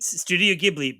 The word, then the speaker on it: Studio Ghibli: She starred in the stage adaptation of the classic Studio Ghibli theme. Is that right? Studio Ghibli? Studio Ghibli, but film is pronounced film.